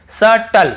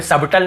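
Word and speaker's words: subtle: मैं आपको पढ़ाया हूं फिर देखिए यहां पे देखिए सटल सटल यहां पे सबटल नहीं पढ़ रहे हैं तो क्लियर हो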